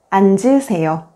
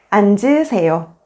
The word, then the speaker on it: 앉으세요: When the 겹받침, 니은, 지읒 is followed by a vowel, only the first consonant, 니은, is pronounced and the second consonant, 지읒 becomes the initial consonant in the next syllable. For example, 얹어, 앉을, 앉으세요.